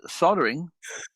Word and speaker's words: soldering: Soldering. Soldering. Yeah. I don't want to know about your. Leave it there. Let's not go there. Soldering. Yeah. The L is silent in America.